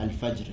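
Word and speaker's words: الفجر: Biasa surah Al-Fajr kita baca kan? Okey. Al-Fajr. Dia ada bunyi ra tu.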